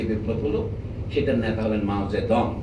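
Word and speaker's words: মাও সে তুং: হল সেটার নেতা হলেন মাওজেদং তখন আমরা জানতাম তার নাম মাউসেতুং ছিল এটা হল চীনা ভাষাকে বিদেশের উচ্চারণ করতে গিয়ে যেভাবে লেখে আমরা সেভাবেই অনুসরণ করিতো সেই মাউসেতু যে রাষ্ট্র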